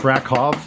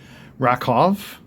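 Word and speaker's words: Rakow: Ed Rakov. It's pronounced Rakov. That's a European last name, so you pronounce the W as a V. So Rakov, 1961 rookie.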